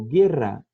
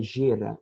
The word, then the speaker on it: guerra: Eu posso totalmente fazer o som do G com o E e com o I quando eu coloco um U no meio deles, assim como no português, tá bom? Como guerra, guitarra, daí não é gera e guitarra.